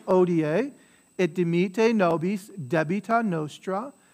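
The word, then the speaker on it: hodie: Quotidianum da nobis odie, so the H is silent, odie, et dimite nobis debita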